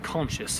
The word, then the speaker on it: Conchas: here in New Mexico, and Conchas, if you want to pronounce it correctly.